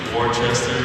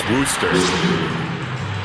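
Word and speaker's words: Worcester: I used to think Worchester it's woer I used to think it was Wester but it's woster how you Sayer W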